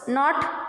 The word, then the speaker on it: knot: ನಾಟ್ KNOT, K is silent, so knot means gantu.